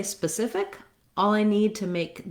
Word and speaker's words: specific: i'm going to naturally go to my old pronunciation so if you start with specific and then add your spa specific specific specific you'll probably get both the rhythm